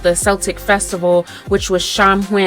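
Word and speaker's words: Samhain: Celtic Festival which was shamn pronounced shawin um as well as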